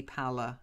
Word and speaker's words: pallor: you know But think word. pal. Yeah, he's my pal. Pal. Pallor. Okay.